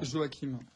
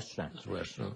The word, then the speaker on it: Joachim: prénom à leur manière se prononce comme chute donc chute joa si vous jouez à saint-joachim nous ne sommes pas